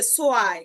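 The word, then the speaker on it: zwei: এ এবং ই যখন একসাথে বসবে, যখন একসাথে বসবে, তখন তার উচ্চারণটা হবে আই। তখন তার উচ্চারণ হবে আই। যেমন এই যে সোয়াই, সোয়াই মানে দুই, সোয়াই মানে দুই, সোয়াই মানে দুই।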